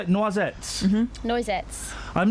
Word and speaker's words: Noisettes: Noisettes.